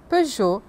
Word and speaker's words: Peugeot: tarde então as as palavras são e a pronúncia correta é Carrefour paban jeer la lanc Chanel Citro Peugeot Rena e algumas atries famosas como cine de